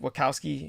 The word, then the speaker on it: Wachowski: even pronounce their names the wachowski sisters is that it wakowski yeah yeah just when you see